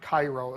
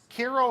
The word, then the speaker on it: Cairo: First off, it's pronounced KO. It's not Cairo.